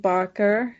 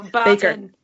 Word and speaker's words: Barton: lastly, to talk us out or to listen out of the show, What's Eaten Elke Barker? Did I say it right? No, Barton.